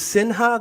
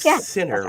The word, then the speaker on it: Sinha: i want to apologize it's sinha the way it's pronounced your last name like sinner right sinha sinha yeah then noticed you have